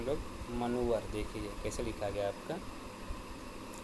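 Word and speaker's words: manoeuvre: देखिए ये है आपका जैसे ये है ये सब आपके यहां पे देखिए इसे पढ़ते हैं हम लोग मनोवर देखिए कैसे लिखा गया आपका एम ए एन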